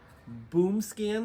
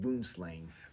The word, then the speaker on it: Boomslang: which include Anaconda ASP black mamba black racer boom scan 6 it's pronounced boomslang that's what I meant Bushmaster coach whip constrictor